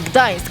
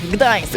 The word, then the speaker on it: Gdańsk: Just say Gdańsk, Gdańsk.